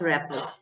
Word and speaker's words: rapport: itself is a word though the spelling is different rapport but our rapport artita is silent so we call it rapport okay ma'am Okay.